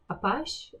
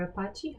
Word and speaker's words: Apache: one after Excel Online was Apache or Apache. How did you say Apache. It? Are you sure that that's how you read it? How do you pronounce it? Apache, Apache? I like Apache. I'll say Apache.